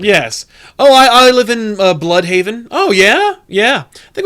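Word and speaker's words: Blüdhaven: I think, honestly, the one that's worse than Crime Alley is Bloodhaven. Oh, but it's spelled weird. It's B-L-U-D. Yeah, it's spelled wrong. Blood... Because that's what it is. An umlaut makes it blue.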